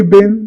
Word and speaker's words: been: आपने बहुत से लोगों को आजकल इसे बिन बोलते हुए सुना होगा, विच इज अमेरिकन प्रोनाउंसिएशन, और हमने बचपन से स्कूल में जो भी बोला है इसको बीन बोला है, so that is British pronunciation.